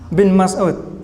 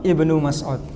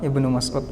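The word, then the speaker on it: ابن مسعود: tahu kenapa dibalik bin bin itu kurang tepat ya kalau di Arab bacanya Abdullah Ibnu Mas'ud Ya Abdullah Ibnu Mas'ud masjid Abdullah Ibnu Mas'ud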